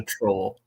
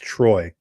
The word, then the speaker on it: Troy: volumes on this one film this is a troll I ha so much you no no it's it's pronounced Troy oh is it Troy yeah it's Troy not